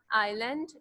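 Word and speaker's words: island: आइलैंड, इसको हम क्या प्रोनाउंस करते हैं, आइलैंड, एस is silent here.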